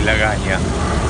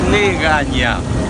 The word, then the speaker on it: legaña: No se dice lagaña, se dice legaña.